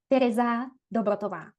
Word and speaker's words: Tereza Dobrotová: So my name is Terza Dotova and I'm very happy to be here.